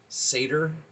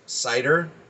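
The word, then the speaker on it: seidhr: that it is pronounced satyr and i have seen it pronounced cider um i like the d as the th and the pronunciation of it so it would be more like cyther i'm sure jackson crawford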